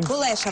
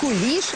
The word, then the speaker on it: кулеша: має назву Кулеша, правильно кулеша, вимовляти, так? Не куліш, а саме кулеша.